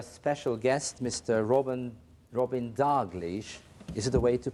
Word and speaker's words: Dalghish: guest Mr Robin Robin dlish is it a way to pronounce it dlish dlish dlish so the stress is on the second syllable and we do not